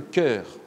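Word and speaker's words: chœur: et puis il ya ce qu'on appelle le coeur le coeur qui s'écrit ch a eu dans l'eau huerre qui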